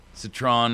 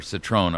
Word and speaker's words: Citron: Citron, or Citron, I'm not quite sure how to pronounce it, but Citron. It's the names of two